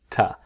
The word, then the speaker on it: to: And the to becomes ta.